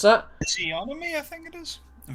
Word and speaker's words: physiognomy: Physiognomy, I think it is. In fact, hold on, let me look. Psychognomy. Here it is. How do you pronounce it? Physiognomy. Physiognomy.